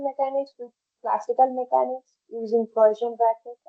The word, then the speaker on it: Poisson: with classical mechanics using Poisson bracket and or Poisson bracket that usually n is not pronounced and commutators, Arnfest theorem, quantum mechanics and classical mechanics analogy.